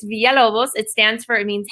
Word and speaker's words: Villalobos: i like to print my mother once caught me pronouncing it the gringo way and she got very angry at me she said that's not